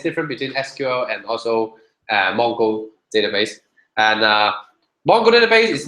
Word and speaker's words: Mongo: We call it this database is called MongoDB. So this is how it's spelled. It's not Mango. It's not other spelling. So it's Mongo, M-O-N-G-O.